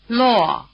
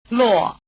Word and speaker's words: Luò: The combination WO or UO is pronounced rather like the beginning of the English word "wall". Try repeating after the speaker. Lóng, Wò, Luò Again.